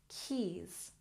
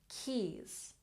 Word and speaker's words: keys: our pronunciation lost lost keys keys remember this s makes the z sound Keys good and traveled